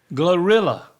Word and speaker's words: GloRilla: Glorilla.